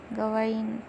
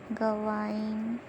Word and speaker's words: Gawain: First we see Gawain pronunciation. Gawain. Gawain kind of sounds like Gawar.